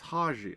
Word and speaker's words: Haji: Haj? Hot. Is the I silent? I feel like the I is silent. Haj. Haji? It's Haji. I am pretty sure it might be Haji.